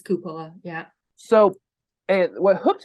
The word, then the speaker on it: Cupola Pond: Coppola Pond or whatnot I call it Coppola Palm but I think the right way to say is cupola yeah so it what